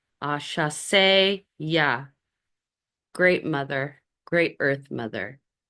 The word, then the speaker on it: Asase Yaa: And when you're doing it, you want to invoke, and again, here's the pronunciation. It's Asase Yaa. Asase Yaa.